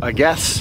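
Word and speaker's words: Agés: into a little town called a guess which is spelled like ages a g s in English it's uh a little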